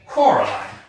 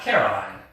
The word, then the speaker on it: Coraline: They kept saying Coraline, not Caroline. Not Caroline at all."